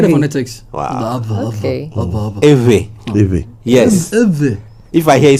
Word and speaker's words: Ewe: So we pronounce it like we're pronouncing an English word or even any of our other local languages. But because we don't have knowledge about Ewe, we don't know that that's V in the middle.